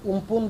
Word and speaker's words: Amphan: जार नामकरण करा जायछि उम्पुन तार जदिव स्पेलिंग होछि AMPHAN ताकू उम्पुन बोली प्रोनाउंस करा जाउछि।